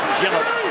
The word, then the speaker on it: Gillett: Gillett. I've only been told in the last couple of weeks that that's the way Matt wants it pronounced.